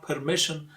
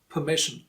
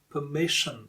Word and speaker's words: permission: And the second important thing is R is silent here. It's not permission, it's permission.